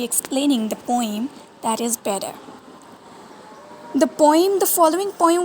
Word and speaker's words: Bedeh: of the word bidet some people call it b day but the real english pronunciation is better better as the real pronunciation of this and this word so